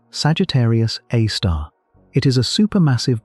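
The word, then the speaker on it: Sagittarius A*: At the exact center of the Milky Way sits an object called Sagittarius A, pronounced Sagittarius A star.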